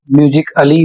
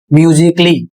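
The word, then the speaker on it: musically: तो यहां पर देखिए ए साइलेंट है। जैसे शब्द है एम यू एस आई सी A double L वाई। इसको यदि आप पढ़ते हैं म्यूजिक अली तो गलत पढ़ रहे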